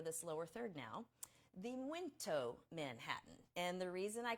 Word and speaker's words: muito: So this is the very Portugal Manhattan, and it's pronounced muito, even though there's no N there, but it's just part of the pronunciation.